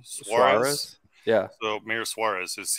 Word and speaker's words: Suarez: So I'm curious, is this Mayor, how do you pronounce his name? Suarez.